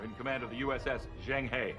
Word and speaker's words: Zheng He: Acting Captain Will Riker in command of the USS Zheng He. They kind of butchered the pronunciation. But anyway. Zheng He, he said. Zheng He, Zheng He.